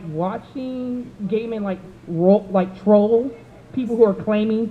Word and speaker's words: Gaiman: it's I not Actually pronounced Guyman. You got it. He'll tell you that it's Gaiman because he's a writer and it's his name.